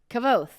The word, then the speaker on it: Kvothe: I literally just Googled how to pronounce. Let's see what she says. Oh my god! Why is this a 23-second video? Kavoth, dear friends.